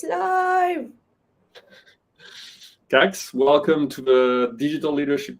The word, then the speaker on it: Kax: So for everybody, my name is Kax. You pronounce it as the same as fax, tax, wax, just for the people who are having trouble pronouncing it.